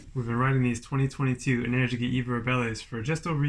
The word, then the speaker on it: Energica: And it's pronounced Energica. Energica, not Energica. Say it right.